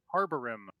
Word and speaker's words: Harborim: first question: how do you say your name? Harborim. Oh, I win. yep, you were right.